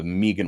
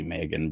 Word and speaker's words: Meegan Ward: love for megan ward her name is actually megan but i used to mispronounce it all the time and i just think